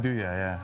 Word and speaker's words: nduja: Describe, I can't, such words I've never even heard of, like Nuja, how do you say that? Nduja, yeah.